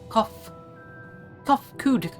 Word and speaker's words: Kofkud: As for nomenclature to address my individual person, I believe it would be pronounced as Kofkud. Yes, Kofkud of the ear.